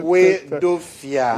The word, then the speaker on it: Hoedoafia: Yes, 3 syllables. Break it down. Well, Hoedoafia.